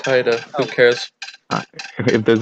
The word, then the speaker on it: Haida: It's Haida.